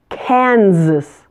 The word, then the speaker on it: Kansas: Oh Iowa Iowa Kansas this one is relatively easy stress the first syllable and note the middle s is pronounced as AZ Kansas Kansas Kentucky the middle